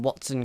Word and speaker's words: Wattson: type person I'm really the name Watson kind of goes with it because you have what's which is spelt w a TT so it kind of makes sense it goes the same way as what what is towards electricity so we might see it